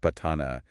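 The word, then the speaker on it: Paṭṭhāna: It's fascinating how the patana, pronounced patana, is used for protection in Myanmar and other parts of Southeast Asia.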